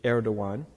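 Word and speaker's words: Erdoğan: Diwan by the way a lot of people cannot pronounce Turkish is a very hard language not that I know but all the letters are very different from our letters so that GaN is actually air dawuan he's the 12th president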